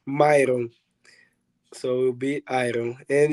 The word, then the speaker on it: Mairon: iron because in in in Portuguese they pronounce my name is myON so we'll be ID